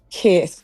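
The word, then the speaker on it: Keir: K. K. It's spelled K I E R.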